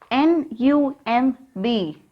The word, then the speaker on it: numb: Here, letter B is silent. And what about this? N-U-M-B.